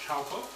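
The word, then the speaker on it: Chaokoh: Now this particular coconut milk is the Chowco, so it's pronounced Chowco.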